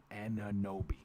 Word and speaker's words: Anunoby: Nathaniel Carby says Anunoby, pronounced Anunoby.